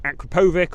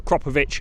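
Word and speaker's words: Akrapovič: has the full titanium Akrapovic, or depending on your pronunciation, Akrapovic or Kropovic exhaust system on, which looks really funky.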